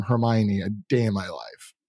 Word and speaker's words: Hermione: but yeah I mean even my sister couldn't pronounce it she would say her hiney and I'm like yeah